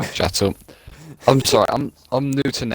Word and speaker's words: Chetil: And why Rizzi and Wedgie you're again pronouncing Chetil's name wrong? Chetil.